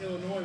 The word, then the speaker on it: Illinois: on September 21st piora Illinois October 27th in lywood Illinois and I believe that's pronounced Illinois without the S but that's because Illinois